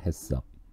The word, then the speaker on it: HACCP: 그리고 발음할 때는 해썹 그렇게 얘기하시면 됩니다. 해썹.